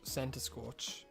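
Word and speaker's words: Centiskorch: Cinescorch is a nice one. Or Centiscorch, if you want to say it correctly.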